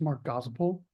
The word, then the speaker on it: Mark Gospel: So you were close on the pronunciation. It's Mark Gospel.